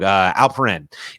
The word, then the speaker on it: Alperen: got Usman Garuba and Alfred Sengun, and in their first game, you just see flashes of it. You see like Alfred in the paint. I think I'm saying his name wrong. Alperen.